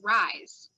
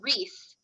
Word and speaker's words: Rhys: listen to the audio i read that as rise i don't i just that's how i read it well then i saw something on instagram a recording of her talking and it's pronounced rhys and i'm like no and so then i got the fourth book and i tried really hard to get my brain it's rhys it's reese and my brain would